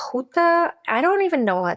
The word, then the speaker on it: Juta: what it is and in Spanish I think it's pronounced huta I don't even know what it's pronounced in English IO juta it's spelled j u